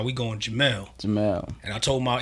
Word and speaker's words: Jamel: was like and and on the record you'll hear me say jam only because that's how it's originally pronounced right right you know although my name is Jamal that's how the Western culture pronounced it but everything I was